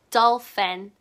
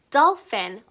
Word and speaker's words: dolphin: 돌고래는 영어로 dolphin. Dolphin. 여기 ph가 또 있어서 f 사운드가 났지요?